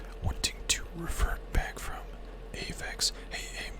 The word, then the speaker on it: Aeuv: This is how you say my name, Avex." And I realized that no one, if I just say Avex, no one can just know that.